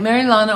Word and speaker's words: Marilana: dumpling um so yeah I say Mary Lena but Jamaica they say uh Marina Mary Lena maryana I like maril Lana also because it rhymes with marijuana so but officially Marana